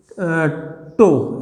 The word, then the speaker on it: tau: This letter is called tau. इसको हम बोलते हैं TAU and it is pronounced as tau और tau, जैसे भी आपको लगे tau, राइट।